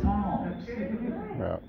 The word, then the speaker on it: Psalms: was absolutely qu and even with the silent p with Psalms P it was perfect that's